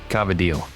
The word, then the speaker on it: Cavatelli: real real Italian cuz you said cavil not Cavatelli yeah yeah you can't